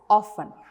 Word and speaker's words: often: it it's listen next you can see it's often so you have to say it as often read these words aloud they all have a